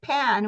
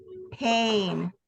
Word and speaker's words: pain: You don't want to say pan when you say pain. You want to make it a long A sound. So pain.